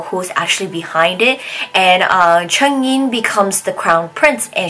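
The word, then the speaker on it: Chengyin: She marries Chen Yin that day. I always get his name wrong. I'm so used to just calling him Gu Xiaowu, but she marries Cheng Yi that day, and at the same time, you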